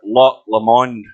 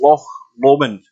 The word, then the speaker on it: Loch Lomond: to say it correctly it's loch lomond not le monde and it's not lock